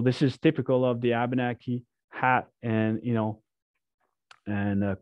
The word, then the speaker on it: W8banaki: language and especially abenaki we do pronounce all of the letters and often you will you will see why is there a nate in in your vocabulary but the eight is actually a nasal sound ah language literally means